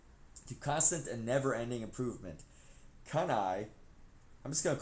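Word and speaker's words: CANI: As a result of this understanding, I created a simple mnemonic, kanai, pronounced kunai, kanai, kanai, kanai, kanai. That's C-A-N-I, pronounced K-U-H-N-E-Y-E, kanai, which stands for constant and never-ending improvement.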